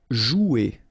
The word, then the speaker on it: jouer: Okay, remember you combine this O and U, you get the sound OU, so joue. Okay, J is pronounced like J, joue, and then ER here, you combine them at the end, et, jouer.